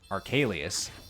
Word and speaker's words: Arcalius: Like, the only one who pronounces his name right, Arcalius, is Drake, who is a full-blood draconist.